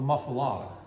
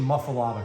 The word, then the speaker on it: Muffuletta: I once asked the famed New Orleans food critic Richard Collin, where does the pronunciation Muffuletta come from? Because if you actually pronounce it as it's written, it would be Muffuletta.